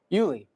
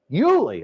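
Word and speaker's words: Ueli: How would you pronounce that? Uli Uli.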